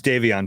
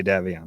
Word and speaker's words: Davion: of the podcast yeah his name is davion too that's how it's pronounced if we're going to nitpick here what did i say davion davio you always say davian that's and i let